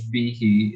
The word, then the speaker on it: Behe: And for years, we've been pronouncing his surname wrong in South Africa. We've been going, it's George Behe, but it's Behe.